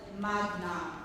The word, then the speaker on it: magna: It's a with a hard G as well as magna with a hard G as well.